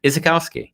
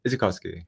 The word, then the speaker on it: Izykowski: I like my pronunciation better than yours on this one. Izykowski. Izykowski. I think Izykowski. If you run it quicker, it sounds less like you're forcing the Polish word out of your mouth.